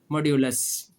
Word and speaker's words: modulus: ठीक है बच्चों, ये जो लाइनें इनको क्या कहते हैं, मॉड्यूलस कहते हैं ना, कुछ लोग मॉडुलस भी कहते हैं। बहरहाल ये तो प्रोनाउंसिएशन का फ़र्क है, इससे फ़र्क नहीं पड़ता।